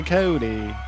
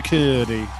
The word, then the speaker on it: Cody: my name is mopar my name is commander cody commander cootie and then the yeah it's a good point i think you brought that up last last episode that he does like pronounce it weird commander he's like what what did you say yeah my name's cody you know more how